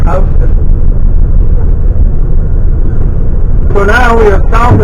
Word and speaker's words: Houston: I know it looks like you would pronounce it Houston, but it's Houston.